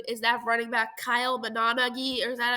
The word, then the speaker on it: Monangai: is really good is that running back Kyle Monangai, or is that how you say his name? Oh my god, I feel so dumb. Kyle Monangai. Kyle Monangai. That's his name. Got it. Monangai.